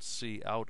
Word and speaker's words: cout: And we write it to the so-called cout object which is standard output